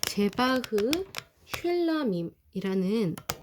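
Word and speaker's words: זבח שלמים: 화목제는 히브리어로 제바흐 쉘라밈이라는 발음이 나는 단어인데요.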